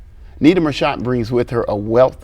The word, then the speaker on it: Nita Marchant: and how you developed well thank you for pronouncing my name right Nita marant um I am the founder of the small